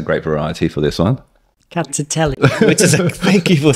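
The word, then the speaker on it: Rkatsiteli: the next one, which is, You got to pronounce the grape variety for this one. Rkatstiteli. which is thank you for saying that. I was shaking in my boots. Rkatstiteli, which is another white wine from Georgia, and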